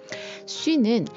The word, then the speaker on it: sus: 쉬는 뭐뭐 위에 앞으로라는 의미이고 수는 뭐뭐 아래 밑으로라는 의미예요.